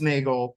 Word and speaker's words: Neagle: Alan used to say Neagle like bagel, not Neagle like beagle. Remember? Yeah. That I don't remember, but we want to be careful. It's pronounced Neagle, but it's spelled like beagle.